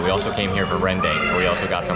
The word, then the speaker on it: rendang: It is pronounced Rendang.